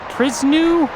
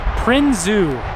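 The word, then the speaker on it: Prinsu: this has I think it's pronounced pris PR no actually no that's not how pronounced prinzo prinzo there a prino roof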